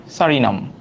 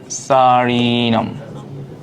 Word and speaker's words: সুরিনাম: interesting এটার নাম হচ্ছে সারিনাম ঠিক আছে ছোট্ট যে দেশটা এটার নাম কিনা সারিনাম বা সুরিনাম যে যেটা উচ্চারণ করে সারিনামটাই সুন্দর লাস্ট লাস্ট যে ইয়াটা